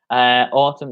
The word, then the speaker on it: autumn: Autumn. Yeah, the N is silent.